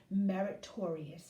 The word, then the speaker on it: meritorious: day yesterday is pronounced meritorious okay so please remember that sort of like victorious so anyway today's word